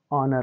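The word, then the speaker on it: honour: क्या है गलत है तो ओ के पहले अगर बच्चों एच आएगा तो एच क्या हो जाएगा वहां पर साइलेंट हो जाएगा तो इसको क्या पढ़ेंगे हम ऑनेस्ट पढ़ेंगे इसी प्रकार यह ऑवर हो जाएगा और यह वाला बच्चों इको हो जाएगा और इसका जब उच्चारण करेंगे तो क्या हो जाएगा बच्चों ऑनर हो जाएगा ठीक बच्चों उम्मीद करते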